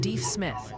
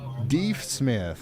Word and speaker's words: Deaf Smith: For Wolfforth and Deef Smith for Deaf Smith County. Deef Smith, okay.